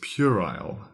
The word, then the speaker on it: puerile: be described as diaphanus our third word is purile purile that's spelled p e r i l e purile